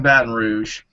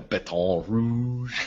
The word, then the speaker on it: Baton Rouge: No, I'm not in Baton Rouge. You say it like you're from Michigan. I say it like from Louisiana. Baton Rouge. You don't say Baton Rouge down here.